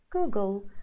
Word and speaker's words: Google: da da da da Google so the pronunciation and the syllable stress is on the second part of the word goo go so that's